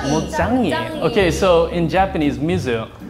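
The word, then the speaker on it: 물짱이: Mizugoro, and in Korean it's Mulchangi. Mulchangi.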